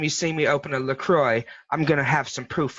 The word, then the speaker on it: LaCroix: right the water I caught I call it look cracked what is actually pronounced lacroix yeah yes he they sponsored him video in